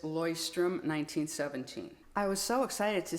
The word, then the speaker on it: Leuchtturm1917: If you look at the way this is written, it's not how it's pronounced, I promise you. You pronounce this Leuchtturm1917.